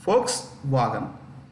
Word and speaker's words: Volkswagen: group pronounced with an pronounced with an F but written with a V folks I'll spell v o l k s w a g en fo wagon Fox wagon so um yeah just